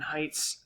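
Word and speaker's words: Haidt: is based on jonathan heights uh moral foundations uh theory right basically jonathan height that's spelled h-a-i-d-t he argued that we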